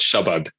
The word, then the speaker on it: Shabad: into that but no it's pronounced Shabad which is a very very flat unemphasized version of that word yeah well wonderful thank